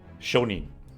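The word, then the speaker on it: 商人: but i realized after i said it's actually shonin merchant so let's copy that there sometimes this is pronounced gene sometimes it's tricky to remember which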